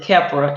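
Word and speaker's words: Khepra: that but since then i've learned that it's keppra and how to pronounce it so i'm familiar now so that's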